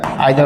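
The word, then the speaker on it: either: নাইদার আইদার অথবা নাইদার এবং এই আইদার নাইদার শব্দটাকে আমরা দুইটা ওয়েতে উচ্চারণ করতে পারি একটা হচ্ছে অনেকে ইদারও বলে থাকে অথবা নিদারও বলে থাকে no problem it's নট a problem আসলে একটা আমেরিকান স্টাইল আরেকটা হচ্ছে আমাদের ব্রিটিশ স্টাইল সো ওইটা নিয়ে কোন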